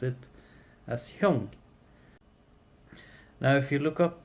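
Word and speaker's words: 형: So the word Hyung and kata is identical. It's just the Korean way to pronounce the Japanese word for kata.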